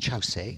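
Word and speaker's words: Kyaukse: very important for us in our tradition is chow si it's it's spelt kyokusei but pronounced chow se and chaos is what i'll call it all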